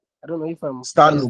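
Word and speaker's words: Stannum: I think that the other name for it was, I think, Stanley. Come again. What I remember is Stanley. I don't know if I'm Stanum.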